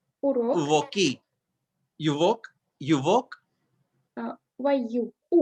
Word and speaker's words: урок: Uvok. Урок. Uvoki. Uvok. Uvok. Why you? Урок. Urok.